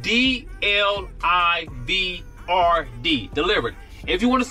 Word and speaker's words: DLIVRD: DLIVRD app is spelled D-L-I-V-R-D, DLIVRD.